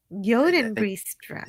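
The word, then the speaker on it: Jodenbreestraat: former house in the Joden Bree Strat. I don't know if I pronounced that right. In the center of Amsterdam. Yoden Bree Strat.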